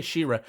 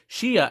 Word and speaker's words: Shia: pronouncing her names shia i always play an r for some reason i don't know why i always say shira shia and tio um so